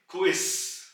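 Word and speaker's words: Quiz: आप गौर करें के जो जड की आवाज है यानी कि जर्मन सेट की वो एस की निकलेगी क्विस जबक अंग्रेजी जुबान में इसको क्विस बोलते हैं मगर जर्मन में क्विस क्विस अगले अल्फाबेट की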